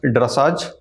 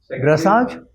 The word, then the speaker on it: dressage: तो फिर ड्रेसाज क्या हुआ? ड्रेसेज हुआ.